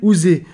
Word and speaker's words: Huzza: Mais qui, lui dit-on, doit se prononcer Ouzé.